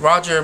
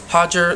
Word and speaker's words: Roger: something wrong like um I was saying rapael and Roger my prediction video and it's pronounced Rafael and hoger then hey tell me